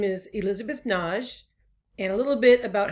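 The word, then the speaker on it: Nagy: to pronounce my name it looks like a two-syllable name n-a-g-y but i use the hungarian pronunciation which is naj it sort of rhymes with taj and taj mahal so that's one way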